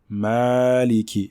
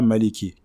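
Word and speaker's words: مَالِكِ: prononcer deux lettres même donc ma maleki et non pas à maliki car maliki si on ne prolonge pas eh bien cela nous envoie vers une autre variante de lecture ici nous nous étudions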